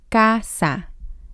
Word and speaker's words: casa: The letter C is a little tricky. Here it sounds like casa. It sounds like a K.